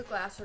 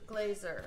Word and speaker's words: Glazer: got a letter anyway nobody pronounces our name right but we are the glazer group or the glasser group or the glacier group glazer that's how it is like laser with a g um we sell residential